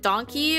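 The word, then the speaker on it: Donki: Um but they call it donkey which is spelled d o n k i.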